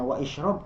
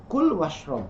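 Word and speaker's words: كل واشرب: Kul, nah di situ ada kul, nah, apakah dibacanya wa ishrob? Tidak, tapi kul washrob, makan dan minumlah.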